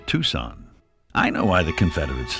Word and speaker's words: Tucson: a quick line from somewhere south of Tucson pronounced Tucson I know why the Confederates lost they were